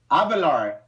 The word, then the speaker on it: Avelar: Avelar.